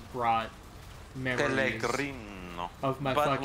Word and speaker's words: Pellegrino: Like, I was supposed to pronounce Pellegrino as Pellegrino, which is, I think it's just wrong. That was what the style guide said, so I had to do it. It's Pellegrino.